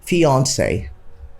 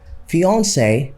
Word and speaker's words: fiancé: correct pronunciation is simply fiance just think of the popular celebrity Beyonce and then you can get it Beyonce fiance he's my